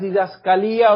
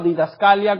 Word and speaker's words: didascalía: La palabra es didascalía o didascalia, como algunos la pronuncian, quiere decir enseñanza o doctrina.